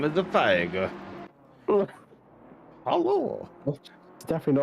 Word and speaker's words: Feige: It's spelled F-E-I-G-E. F-E-I-G-E. Feig. No. Feigig.